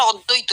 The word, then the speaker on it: অদ্বৈত: কাটলেন মানে third person দৈত অদ্বৈত কথাটা অদ্বৈত হবে কারণ দয় বয় আছে তো সামনে একটা থাকলে অক্ষর থাকলে পরের অক্ষরটা বফলা থাকলে দুবার উচ্চারণ হয় দৈত অদ্বৈত অদ্বৈত থাকবে দ্বৈত থাকবে না প্রথমে তিনি তিনজনের মধ্যে